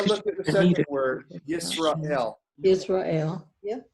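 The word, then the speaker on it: ישראל: You have the shva under the sin there, and you got one in the middle of the word. What usually happens? It's silent, just like it is there.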